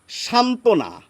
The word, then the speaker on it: সান্ত্বনা: এবার দেখুন আরেকটি শব্দ সান্ত্বনা এর নিচে একটি ব হয় এই ব ফলার জন্য কিন্তু আমরা বাড়তি কিছু উচ্চারণ করছি না আবার এরকম শব্দ অনেক